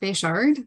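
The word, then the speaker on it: Bechard: the next two speakers will be uh beckard and Jessica Hamilton whenever you're ready thank you my name is bashard and that's spelled b-e-c-h-a-r-d and I am a senior policy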